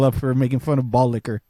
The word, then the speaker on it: Boddicker: Is because that was his last name and he wanted to fuck people up for making fun of ball liquor. I think it might be pronounced Boddicker.